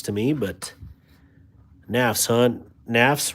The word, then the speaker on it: Nafs: Nafs rhymes with graphs and laughs.